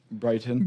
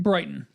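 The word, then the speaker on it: Bryton: your first name again Brighton Brighton just like it sounds but not spelled like that b r y t o n correct well I guess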